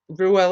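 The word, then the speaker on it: Reuel: These are Ruel's sons, and that Ruel is spelled Rewel.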